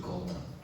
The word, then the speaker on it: Gotra: And you must pronounce it Gotra, right?